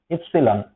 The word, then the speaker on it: epsilon: K is equal to 1 divided by 4pi epsilon okay these are week later and as the pronunciation Epsilon okay this is epsilon and this